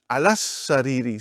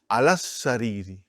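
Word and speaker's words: على السرير: As-sariru, alas-sariri. See how I am pronouncing alas-sariri. It's a shadda. Alas-sariri, I did not pronounce alif, I did not pronounce lam.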